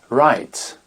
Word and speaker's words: write: il faut s'en méfier un W qu'on ne prononce pas quand il est suivi de la lettre R très souvent par exemple un poignet se dit rest rest écrire c'est dit write WR et non et